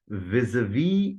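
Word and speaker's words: vis-à-vis: Vis-a-vis is in fact in the first syllable, the z sound is pronounced vis a v. In the second part, that is syllable a, occurs in heart, start, and calm. So vis a v is the transcription or the right pronunciation of the term used.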